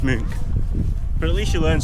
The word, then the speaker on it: Munch: Yesterday we were calling the art museum munch, but it's actually pronounced m.